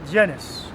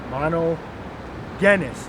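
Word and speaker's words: μονογενής: begotten monogenes all right not not JIS monogenes all right mono genis you know there's no just just sound in the Greek or Hebrew all right so when you pronounce that word make sure you do not say JIS all right see minel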